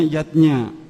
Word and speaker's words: yajna: artinya lima macam selamatan yatnya tulisannya yajna Ayah Bunda tapi membacanya yatnya yang pertama adalah dewayatnya